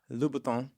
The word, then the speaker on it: Louboutin: Louboutin.